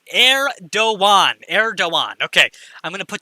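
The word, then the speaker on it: Erdoğan: one in a while eredogan is pronounced heir do one erdogan okay i'm gonna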